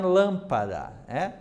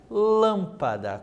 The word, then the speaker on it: lâmpada: Observe lá em lâmpada, Lâmpada, como que fica? Lâmpada. Também temos 3 sílabas e lã é a parte acentuada.